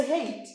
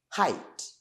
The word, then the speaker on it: height: Yuvuze hate, umuntu yumva. When you say hate, umuntu yumva iyi hate yo kwanga. I hate you, but I don't hate you. I hate them. They hate me. Never mispronounce this word again. Ntuzongere gusoma iri jambo nabi, ujye usoma height.